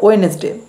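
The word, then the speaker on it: Wednesday: টিউসডে তারপর আছে ওয়েনেসডে এখানে কিন্তু ডি এর উচ্চারণ হবে না উচ্চারণ হবে ওয়েনেসডে তারপর থার্সডে তারপর ফ্রাইডে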